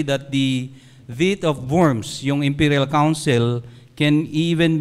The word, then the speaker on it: Worms: uh V of worms so German is pronounced as worms so famous Gathering pop